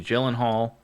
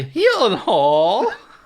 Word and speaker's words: Gyllenhaal: cast alone and Maggie Gyllenhaal you know directing oh you said it wrong Maggie he Hall sorry was that better